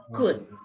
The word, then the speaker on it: could: would could no okay in this words the elf is a silent letter would could okay that would that